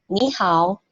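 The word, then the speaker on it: 你好: Ketika kita ngomong, itu otomatis ni-nya berubah menjadi nada kedua. Jadi ni hao.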